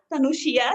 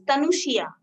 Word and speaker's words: Thanusiya: I can pronounce Tanushia, but it is not Yeah, correct. that's true. Okay, fine. Okay, Tanushia. Okay, great. Tanush, yeah. Okay, Tanushia.